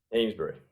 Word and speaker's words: Amesbury: Amesbury. Amesbury. Okay, I didn't know if it was like an old school New England pronunciation.